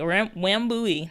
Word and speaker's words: Wambui: So Wambui. So it is okay. So I said it right. Wambui.